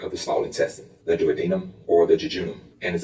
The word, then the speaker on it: duodenum: The first part is the duodenum, sometimes pronounced duodenum.